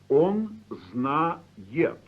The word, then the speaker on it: знает: The ending is spelled yet, but pronounced yit, because the vowel isn't stressed.